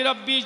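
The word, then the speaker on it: ربي: অনেকে হাসবি রব্বি জাল্লাল্লাহ বলতে পারে, হাসবি রাসবি জাল্লাল্লাহ পড়ে। মাফি কলবি গায়রুল্লাহ বলতে পারে না, মাফি খলকি পড়ে।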